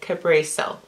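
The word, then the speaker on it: Kabreso: The name we went with is actually Cabreso.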